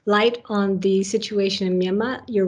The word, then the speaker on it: Myanmar: bit earlier about our Myanmar. And so it's great to have this opportunity to discuss it. So I noticed that you don't pronounce the R at the end. Is that the correct pronunciation then?